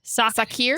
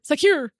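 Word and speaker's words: Sakhir: It's literally s a h s a k o. Suck here. Suck here. Suck here. Suck here.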